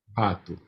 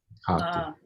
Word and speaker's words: Pato: Pato. Pato. Remember that O has a U sound. Pato.